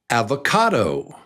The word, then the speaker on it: avocado: It's 4 beats, and number 3 is the strong one, and I wish they had written it there because it's avocado, avocado, avocado, avocado. It's on the cado, avocado.